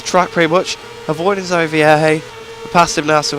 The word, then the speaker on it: Vierge: Vierge is how it's pronounced.